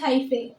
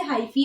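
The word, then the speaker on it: hyphae: So what is this, this is हाइफे, और वी कैन से हाइफी. आपको जो pronounce करना है, हाइफी इज a better pronunciation for this.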